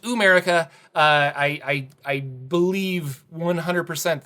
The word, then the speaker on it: Ooo'merica: and that is ooh america yes it is pronounced america uh i i believe 100 that is what